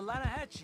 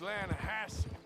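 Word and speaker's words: Lannahechee: The the Lanahhatche. It runs right near here. Yeah, but it's pronounced Lanahassi.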